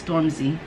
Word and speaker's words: Stormzy: he did mention his name and i did pronounce it right it's stormzy so like i said i start pronouncing names